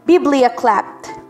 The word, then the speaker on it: biblioclept: Biblioclept. Ang stress po ay nasa first syllable.